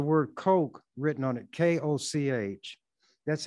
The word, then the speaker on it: Koch: semis with the word coke written on it k-o-c-h that's how they spell it some people pronounce it who's who has that as a name coke some cook others koch but the cokes pronounce it coke this article was written or